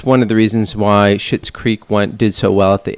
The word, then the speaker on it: Schitt's Creek: It's pronounced Schitt's Creek.